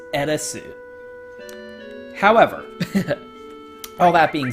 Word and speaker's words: Aerith: The correct way to say her name is Eresu.